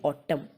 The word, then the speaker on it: autumn: और एग्जैक्ट जो प्रोनाउंसिएशन होती है वो होती है ऑटम, और ऑटम में M ज़रूर होता है लेकिन N साइलेंट होता है बेटा, इसमें N आता है